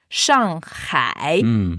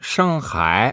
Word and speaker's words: Shanghai: vas Shangai Shangai ouais souvent j'entends les Français qui prononcent Shangai norm parce que la transcription phonétique c'est il y a un G ouais c'est S a N G et H a I en chinois h c'est donc